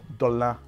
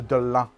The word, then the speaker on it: Dolin: I've heard it's been pronounced Dolin, It's a Delon.